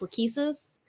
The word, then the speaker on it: Lachesis: So like Lachesis from Genealogy in Fire Emblem Heroes is pronounced Lachesis.